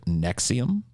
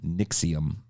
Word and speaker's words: NXIVM: I guess the first one that we'll talk about is, have you guys heard of NXIVM? Sorry, I said that wrong. NXIVM. NXIVM is spelled NXIVM, by the way.